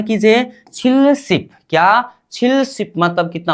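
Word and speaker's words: 칠십: बोलेंगे छिलसिप इसका उच्चारण क्या होनी चाहिए छिलप उच्चारण कीजिए छिलसिप क्या छिलसिप मतलब कितना हो गया 70 अगर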